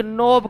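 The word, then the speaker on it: knob: क्या कहते हैं सिनेप्टिक नोब कहते हैं के साइलेंट हो जाता है सिनेप्टिक नोब कहा जाता है न्यूरॉन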